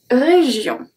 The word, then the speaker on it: région: So here, the G is a soft G. So it's going to be J. J. Because it's followed by I. Région. My I, not your I. Région. And O-N makes the sound on. Du monde.